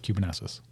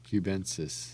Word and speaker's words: cubensis: it Cuban 12 times cubanasis where's the letter between n and the s I don't know that's just how he pronounces it so I followed along cubensis you're a cubensis whatever